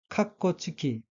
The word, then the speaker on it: カッコ付き: 다음 단어에서 카타카나로 된 부분의 철자를 하나씩 읽어보면 카, 작은 츠, 코이고 다시 카와 작은 츠는 합쳐서 캇이라고 발음하고 첫째 음절 카에 액센트가 있습니다. 따라서 단어 전체는 카코츠키라고 읽으며 카코츠키는 괄호라는 뜻의